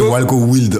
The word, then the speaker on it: Walko Wild: Alors, en fait, c'est Walco Wild en français et Walco Wild. Wild en anglais, oui.